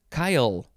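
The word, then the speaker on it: chyle: good word next is kyle c-h-y-l-e it's not the name kyle noun from 1541 lymph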